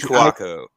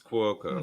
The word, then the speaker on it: Cuoco: Is that how you pronounce that? Kaylee Cuoco.